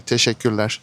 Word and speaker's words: teşekkürler: You can say teşekkürler. Huh? Teşekkürler. One more time. Teşekkürler. Teşekkürler. Teşekkürler. Teşekkürler. Teşekkürler. Teşekkürler.